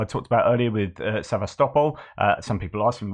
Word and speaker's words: Sevastopol: are asking why I called it sevastopol and not Sebastopol uh just because I've listened to ukrainians and Russians say the word and that's how it said uh you can go